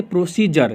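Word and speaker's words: procedure: है अब प्रोड्यूसर दौरे नहीं प्रोसीजर नहीं बल्कि प्रोसीजर क्या बनेगा इसका प्रोसीजर आप लोग जानते हो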